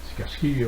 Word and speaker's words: Sikarski: Moi, je me rappelle du professeur qui s'appelait Sikarski, donc Sikarski prononcé en français, évidemment.